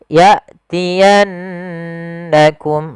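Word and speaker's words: يأتينكم: yatiannakum minni pfal ya Ada Hamzah sukun Hamzah di sini ada sebuah sifat sifat yang paling mencolok ya Eh maaf syiddah dengan jaharnya yaitu tertahannya nafas dan tertahannya suara maka ketika Hamzah sukun dijelaskan ya jangan sampai menyerek jangan ya ya tapi ya ya yatiannakum lagi ada nun sukun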